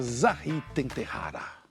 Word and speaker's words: Zahỳ: é atriz cantora artista visual e escritora bem-vinda Zara chique você que é chic S você pronunciou meu nome direitinho goi É este